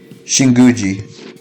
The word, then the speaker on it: Shinguji: Shinguji.